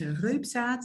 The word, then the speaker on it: Reubsaet: name is and my last name is rad that may be a bit difficult for non Dutch speaking uh viewers but that's how you pronounce it I'm also also a